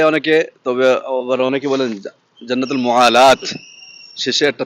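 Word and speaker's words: جنة المعلاة: জান্নাতুল মুয়াল্লা বলে অনেকে তবে আবার অনেকে বলেন জান্নাতুল মুয়ালাত শেষে একটা তা আছে গোল তা এজন্য জান্নাতুল মুয়ালাত আমি উচ্চারণ শুনেছি যাদের আরবদের থেকে তো যাই হোক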